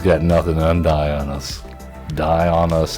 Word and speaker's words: Dionus: nothing undy on us die on us that's how we're pronouncing it now because that is what